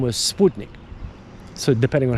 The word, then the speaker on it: Sputnik: satellite it was called the in English it's spotnik but it's uh the the self name was Sputnik so depending on how you want to pronounce